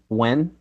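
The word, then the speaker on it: Nguyen: who you got uh it's it's Ben Gwen by the way I I heard say that Gwen like GW yeah I guess the N is silent in whatever place that he lives in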